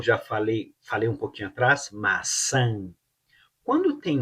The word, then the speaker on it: maçã: cima da letra A, pronuncia como se fosse A e N e mantém a boca aberta. Olha só. Maçã, maçã, maçã, an, an.